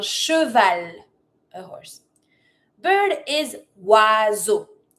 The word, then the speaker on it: oiseau: Why does it make that sound? O I makes the sound wa. E A U makes the sound o. The S is between the I and the E. So, because it's between two vowels, Z sound. Wazo.